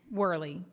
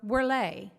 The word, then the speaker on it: Whurley: Um, so it is my honor to open to introduce our opening keynote Worly or Worle depending on how you'd like to pronounce it.